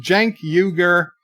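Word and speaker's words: Cenk Uygur: else's bird of prey is pronounced Janki ogre he is part of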